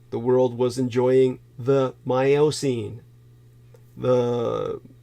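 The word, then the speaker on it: Miocene: world was enjoying the myocene the depending on how you pronounce it myocine but probably more correctly the myocene Kenya which we were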